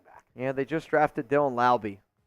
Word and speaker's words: Laube: Yeah, they just drafted Dylan Laube. Rhymes with Wowby. It does rhyme with Laube.